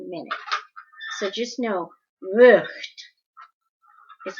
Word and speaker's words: Vught: So just know, Vught is how you say it.